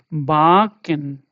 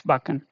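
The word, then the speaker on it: backen: You should not say like baken. No, it's baken. Yeah, baken. Suka, suka. Yeah, baken, because this particular thing has impacted this particular thing, right? Seka has impacted this vowel, and it will not be ah, it will be ah. Okay, baken, baken.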